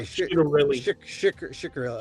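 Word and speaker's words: Ciattarelli: uh she she let Cherelli come up there. Chorelli, right? Am I pronouncing his name correctly? Uh yeah, I think you pronounce the ch as in sh so it comes out shikarell.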